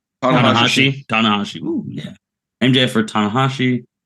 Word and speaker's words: Tanahashi: Jacob, do you know how to pronounce his last name right? Tanahashi.